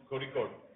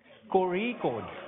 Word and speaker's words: Kozhikode: Let me see if I get the pronunciation right. Kozhikode. Kozhikode.